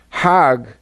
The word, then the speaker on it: Hajj: Hag is the Egyptian pronunciation.